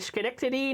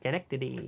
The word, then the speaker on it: Schenectady: the sound of that Schenectady I am I'm pretty sure they pronounce this Schenectady I I think they it's like school oh no Schenectady how